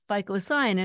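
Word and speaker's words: phycocyanin: hours virtually gone because ficoin I'm going to spell that for people who are listening and not watching ficoin is spelled phy c c y a n i n FICO cyanin py c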